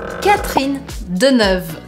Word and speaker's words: Catherine Deneuve: A pronúncia correta desse nome é Catherine Deneuve. Catherine Deneuve. Percebam que eu não falei Catherine, Catherine. Eu praticamente faço esse E do meio desaparecer. Então vira Catherine. E agora Deneuve.